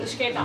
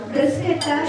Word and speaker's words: bruschetta: Bruschetta. But I want you to pronounce correctly. Bruschetta. The H is silent. Bruschetta is the correct.